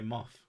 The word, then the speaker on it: moth: Because you say moth. Moth. There you go. What's wrong with moth? Silkworms need a union. How do you say moth? Moth. With the th.